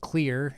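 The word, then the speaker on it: Xlear: It's um one of the brands out there is called Clear. It's spelled with an X.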